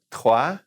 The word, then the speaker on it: trois: All right, and 3 is R in the back, trois.